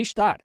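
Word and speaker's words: Ishtar: I s h t a r star estar. E também se pronuncia a s t a r t e astart.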